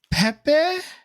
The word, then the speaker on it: Pepe: background to go through so we have uh Pepe I'm wanna like butcher these names I am so sorry it's uh it's Pepe p-e-p-e like and then last name is uh